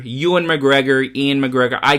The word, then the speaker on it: Ewan McGregor: say as a kid even though i know ewan is probably the proper pronunciation and probably if i